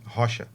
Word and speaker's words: Rocha: Rocha. Rocha. So we used to say Rocha because the R is Yes. pronounced like a H in Portuguese.